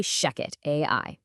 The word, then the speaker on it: ShechetAI: And just so you know, that's spelled ch, but we say shecket AI.